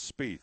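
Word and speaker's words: Spieth: show spe yeah it's spe well it looks teeth with a yeah it's spell IE but it's teeth with an SP on the front of it spe well he would know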